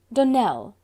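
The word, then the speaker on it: Donnell: would set it right Donell Accent on the last syllable and Sinclair on no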